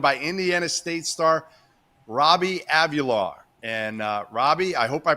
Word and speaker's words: Avila: I'm Jeff Goodman, Tyler Hansbrough, Terrence Oglesby, and we're joined by Indiana State star Robbie Avila. And Robbie, I hope I pronounced your last name right.